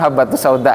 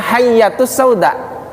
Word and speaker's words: habbatus sauda: ada kan apa kapsulkaps habbatus sauda itu itu karena ada hadisnya lah ini ada yang salah baca bacanya hayyatus Sauda habbatun artinya biji hayyatun artinya ular Jadi yang bacanya Salah